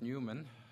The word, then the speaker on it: Neumann: my name is i pronounce it newman i'm president of business